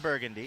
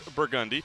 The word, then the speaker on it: Burgundy: Make sure you get it right. Burgundy, The locals say not Burgundy. it's not Burgundy. You will look like a chump if you say that. It is Burgundy.